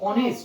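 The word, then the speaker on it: honest: বলছি আওয়ার তখন আগে কিন্তু একটা আ এর উচ্চারণ এসে যাচ্ছে আওয়ার অ্যান আওয়ার অনেস্ট যখন বলছি অনেস্ট তখন কিন্তু প্রথমে শুরু হচ্ছে অয়ে ঠিক আছে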